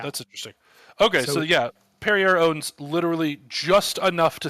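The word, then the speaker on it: Pierer: how do you say is it perier yeah it's like perier like the water company perer Mobility AG um they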